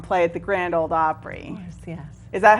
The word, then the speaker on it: Opry: to Nashville and play at the Grand old Opry course yes is that how it's pronounced Opry the Opry yes so what happens